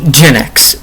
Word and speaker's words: Jinix: So, my um region is called Ginx. It's like Jinx, but it's spelled with an extra I before the axe.